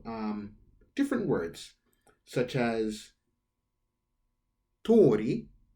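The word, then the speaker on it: 鳥: different words such as tori means bird but when you write it out with the apostrophe above the o that would mean street so tori bird same word in ramadi tori means street because it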